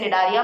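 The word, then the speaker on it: Cnidaria: सी से spelling start होती है बट इसे निडारिया पढ़ते हैं.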